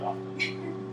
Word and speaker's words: often: Yeah, a lot of people were told that tell me that I'm a jackass, because I say often, with the T.